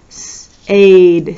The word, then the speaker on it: said: end of english words s aid sayed we pronounce it said but when you're thinking to spell it you say sayed set let's go this